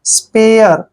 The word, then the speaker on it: spare: एस को हम से लिखते हैं, पी को पे पढ़ते हैं, और देखिए ARE को यहाँ पर एयर पढ़ेंगे, एयर ऐसे। स्पेयर, स्पेयर, स्पेयर होता है